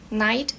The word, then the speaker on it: knight: Knight, que daí é KNIGHT. Enfim, são algumas características do inglês, tá? Então, quando você vê KN ou PS, né, o K é mudo, o P é mudo também. Então, aqui nós temos o